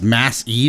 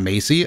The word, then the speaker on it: Massey: It's pronounced Mass E, not Macy.